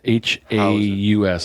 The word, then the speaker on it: Haus: So let's grade this Grow Brewing House Effect beer. Yeah, what is it called? House Effect. Haus, like not HAW, like house. It's house.